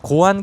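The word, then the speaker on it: Goan: 자, 고안 클래식 350.이 이 고안 이름이 조금 이상하잖아요. 발음에 조금 주의를 해야 되는 그런 느낌인데이 인도에 고아라는 지역에서 따와서 끝에 N을 붙여서 고어안, 고아 사람 뭐 이렇게 표현이 되는 건데 고아의 스피릿을 가지고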